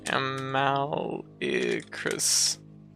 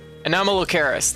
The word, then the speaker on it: Anomalocaris: Amallicrus. Trying to. Yeah. Yeah. Sorry, I'm just. Anomalocaris.